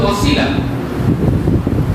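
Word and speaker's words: وسيلة: শব্দটা হচ্ছে একটি আরবি শব্দ, যার যে শব্দটা হলো ওয়াসিলা, লাম ছোট দাম, যার যেটা হচ্ছে উচ্চারণ হচ্ছে ওয়াসিলা।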